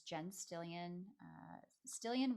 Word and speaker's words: Stillion: my instagram it's jen stillian uh still in rhymes with million it's spelled like million